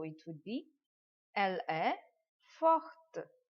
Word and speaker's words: forte: So it would be elle est forte. Forte. We will pronounce the last letter de here.